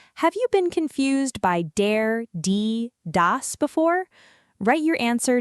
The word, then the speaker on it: der: Let's go learn dare das. All right, let's start with the very first German article and it's dare. Say it with me. Dare. It kind of sounds like dare but softer.